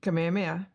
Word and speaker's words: Kamehameha: Kamehameha.